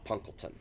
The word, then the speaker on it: Punkleton: The official pronunciation is Punkleton, which almost sounds as if it's like a person's last name.